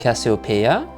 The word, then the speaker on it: Casiopea: Casiopea, like the stars in the sky that you might see in July.